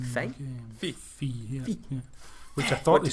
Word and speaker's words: Fe: Fee, yeah. Which I thought they said Fear to begin with.